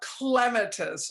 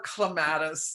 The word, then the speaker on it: clematis: It's about clematis or clematis, depending on who taught you how to say it, and about the seeds of clematis.